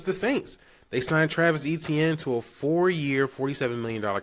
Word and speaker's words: Etienne: And I'm saying his name wrong. It's not Travis Etienne. It's Travis Etienne. He came out recently and said, that's how you properly pronounce his name. So let me get that right. It's not Travis Etienne. It's Travis Etienne. That's what it is.